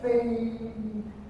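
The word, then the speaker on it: 飞: Chinese pronounce fei. Say fei.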